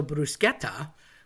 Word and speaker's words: bruschetta: So bruschetta with a CH is a K sound, although people want to make a sh because it looks like that, and we tend to do that in English.